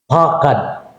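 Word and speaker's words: פחד: Ang pag-pronounce gudana niya, pakad, no? Pakad, no?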